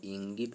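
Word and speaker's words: ङीप्: मतलब इसका उच्चारण डीप भी कर सकते हैं दोस्तों, इसका उच्चारण डिस भी कर सकते हैं, और इंगिप भी कर सकते हैं, इंगिस भी कर सकते हैं।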